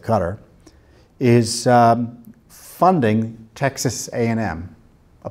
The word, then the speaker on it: Qatar: our erstwhile Ally Qatar qat I are I pronounce that Qatar is funding Texas A&M